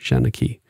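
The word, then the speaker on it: seanchaí: strangely so we're going to spell it more phonetically so um it is uh that is the name for an old Irish Storyteller shanaki so that's what he's going to be called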